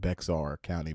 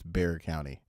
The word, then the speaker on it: Bexar County: are not from Texas, they're going to pronounce it Bexar County, but it's Bexar County.